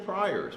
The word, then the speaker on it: Prior: Next one is Priors, right? Did I say his name right? Prior, yeah. I said Friars the last time we tried and kind of messed it up.